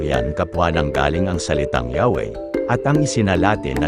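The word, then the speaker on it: Yahweh: saksi tungkol sa salitang yahwe Bakit Mas pinili nilang gamitin ang pangalang Jehova ganito ang mababasa sa kanilang aklat while inclining to view the pronunciation yahwe as the more correct way we have retained the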